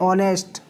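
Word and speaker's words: honest: उसी तरह ऑनेस्ट या एयरेस, HEIRESS, एयरेस।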